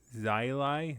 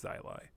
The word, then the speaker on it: Zyly: was one by one Z X Zil Zyli Zyli the fox. If I pronounce that wrong, then you may box my ears. I pronounced it wrong a few times, but I think it's Zylai. Uh, Zylai the Fox.